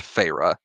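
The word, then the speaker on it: Feyre: so much it's just in there yeah it's pronounced PHA okay phra discovers that her captor is not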